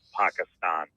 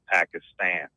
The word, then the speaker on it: Pakistan: For the record, Bob Baskerville, it is Pakistan, not Pakistan. Oh, okay.